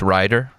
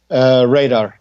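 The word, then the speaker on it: Rader: Is it just Ryder? Radar. Radar. Okay. Yeah. Almost like a radar where you spot shit on.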